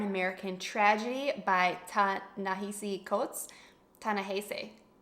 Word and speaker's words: Ta-Nehisi: Ta-Nehisi. That's how you say it.